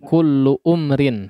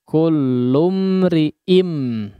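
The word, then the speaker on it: كُلُّ امْرِئٍ: ya coba diperhatikan bukan kulluumrin ya disitu kullumriim Ya qullum itu ada Hamzah washal di atasnya itu bukan bommah ya tapi alamatullah ya jadi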